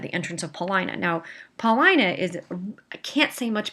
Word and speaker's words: Paulina: that he's being irrational tyrant so she was Paulina and that's the way you pronounce at paulina is showing has come to